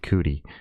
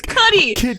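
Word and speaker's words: Kid Cudi: song with a kid cootie cootie cootie come on dude it's cuddy well i said it wrong the first time too so i'm just going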